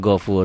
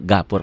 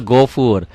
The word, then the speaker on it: ghafur: Nih yang saya katakan, tolong dirubah nih, gafurnya jadi ghafur. Jadi saya mau yang saya ajarkan tulisan Arab dengan bunyi Latin harus sama. Karena kalau gini kita nggak bisa menyalahkan pemula. Bu baca bu. Azizun gapur. Pak tulisannya gapur tuh ya. Padahal gofur.